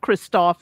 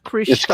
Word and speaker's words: Krzysztof: you better tell me because people were sending me their voiceovers about how to say it, and they say it's not Christoph. I have to say It's Krzysztof.